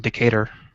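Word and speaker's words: Decatur: language around even though everything is pronounced with the an American accent I like a decator as opposed to uh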